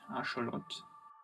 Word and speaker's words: axolotl: the forthcoming like day album called axolotl or properly pronounced our short it's crazy for me